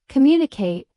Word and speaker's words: communicate: Communicate is com-mate with stress on the second syllable.